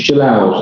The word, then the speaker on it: Jalal: It's Jalal. There's no D. That's how you pronounce it.